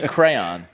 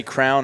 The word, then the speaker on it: crayon: How do you say crayon? Do you say crown or crayon? Because I always get roasted cuz I'm a crown guy.